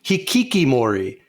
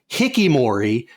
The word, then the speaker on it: hikikomori: So you say hikikimori, but the way Ryan was pronouncing it, it sounded like hikimori, and that sounds like